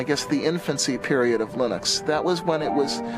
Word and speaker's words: Linux: But Linux is always Linux.